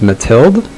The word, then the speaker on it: Mathilde: you just don't pronounce you just don't pronounce the e so it's mathilde i've never i don't